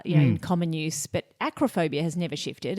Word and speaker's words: acrophobia: They were explaining acrophobia and they kept saying acrophobia, but they they were pronouncing it as agrophobia.